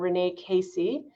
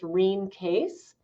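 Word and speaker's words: Rene Caisse: by this canadian nurse named renee casey or her name was actually pronounced rheem case but she was a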